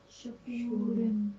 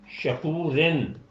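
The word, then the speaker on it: شكورا: شکورن۔ شکورن، ٹھیک ہے؟ تو اب اگر ہم اس کا توڑ کریں گے، پہلے تو آپ اس کے ہجے کریں سب کے، تو شا کور کو رن۔ رن۔ اب اگر ہم دیکھیں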